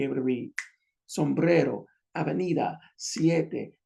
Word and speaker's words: siete: It's only two syllables, so it has to be put on the first. It has to be placed on the first. Siete. You see, siete, which is 7.